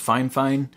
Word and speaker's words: Fifine: shout out out to i believe they said it's pronounced fine fine i want to send